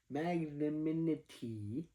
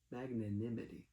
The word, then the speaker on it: magnanimity: Magnaminity. I didn't say that right. Magn what magnanimity it's like 10:30 at